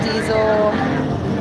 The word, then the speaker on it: DISL: DISL, pronounced diesel, a vegan and promoted veganism and natural law.